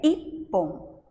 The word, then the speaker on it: ippon: Na linguagem oriental, especialmente a japonesa, nós sabemos que quando dobra uma consoante, temos um encontro de duas consoantes, a gente dá uma paradinha. Então, o correto da pronúncia é ippon, certo?